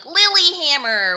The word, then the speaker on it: Lillehammer: No, it's how like English speaking people like Lilyhammer when they say that E in the middle of Lillehammer.